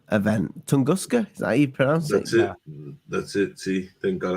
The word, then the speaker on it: Tunguska: was that's pretty cool it's a pretty cool tongoska event tunguska that's it see thank God I didn't have to pronounce it that's right okay so explain this